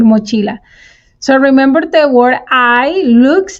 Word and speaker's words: hay: And remember that the H is silent, so you don't say hey, you don't say hi, you say I.